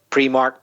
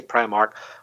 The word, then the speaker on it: Primark: one thing is pronounciation pre-marked Primark okay I can say both in my accent I can say pre mark I can say Primark a different thing is